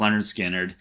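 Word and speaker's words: Lynyrd Skynyrd: them everyone loves them leonard skinner pronounced leonard skinner this had to be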